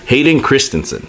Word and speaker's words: Hayden Christensen: For else, Hayden Christensen.